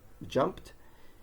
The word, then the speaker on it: jumped: However, the general rule is that if the word ends in a voiceless consonant, we add a T, as in jump, jumped, and if the word ends